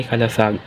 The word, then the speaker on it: kalasag: ang huli ang kalasag ang tamang pagbikas naman nito ay kalasag ito ay mas kilala